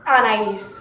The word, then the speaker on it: Anais: Anais.